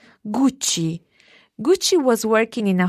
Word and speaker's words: Gucci: First of all, there was the one that's spelled Gucci. Gucci. Gucci.